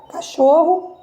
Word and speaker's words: cachorro: Então, aqui, pessoal, o cho é a sílaba mais forte, né? O som mais forte, a sílaba tônica.